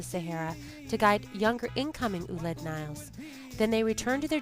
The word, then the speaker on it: Ouled Nail: of tradition and folklore pronounced uled Nile they were a Berber